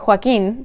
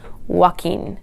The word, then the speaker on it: Joaquin: So in Spanish it should be Joaquin, but speakers of English generally tend to pronounce it as Joaquin.